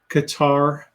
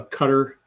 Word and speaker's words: Qatar: war uh let's see Qatar uh cutter however you want to pronounce it that country the Qatari